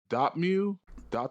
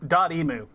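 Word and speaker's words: Dotemu: uh we have the uh uh developer uh dotmeu oh i got a um dot emu yeah daddy mu thank you i was like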